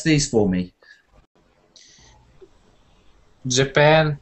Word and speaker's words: Japan: Japan, Brazil. Yes. So they're the same way. Second syllable.